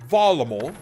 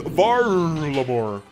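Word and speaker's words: Varlamore: So like they say Valamor, and I go like, okay, Valamor. And then it's very hard for me to like unironically want to get a a pronunciation out of my head. So whenever I refer to Valamor, I just say Valamor. That's it. Oh my god, bro, it's Varlamor.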